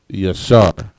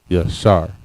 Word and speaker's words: yashar: Yashar. Ya, Sha, and Ra. Yashar. Next we have the word summer.